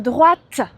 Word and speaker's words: droite: Par contre, quand tu tournes à droite ou à gauche, eh bien, il faut dire droite. Tu dois prononcer le T.